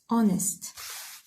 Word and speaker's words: honest: so we say honest not honest. honest first syllable.